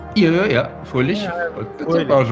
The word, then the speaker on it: Fröhlich: Yeah, Fröhlich.